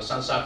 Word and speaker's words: SLSA: là SLSA framework này, đọc là SANSA framework, nghe như kiểu là kiểu nhảy à.